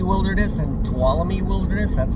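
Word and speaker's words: Tuolumne: So there's u McCullamy Wilderness and Towalami Wilderness. That's how you pronounce them. You could just say the Moch, but um Mccullamy Wilderness and Towalamy Wilderness um and Yuse in near Yusei Park.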